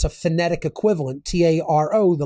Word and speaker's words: tarot: it's a phonetic equivalent t a r o the last T is silent then a r o